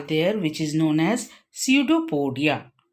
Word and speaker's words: pseudopodia: which is known as pseudopodia c e u d o p o d i a here p is silent it is pseudopodia which help to procure